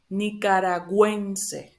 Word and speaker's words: nicaragüense: So just put this, if you see these two little dots here in the U, it just means that you need to pronounce the U, like a normal U, like U.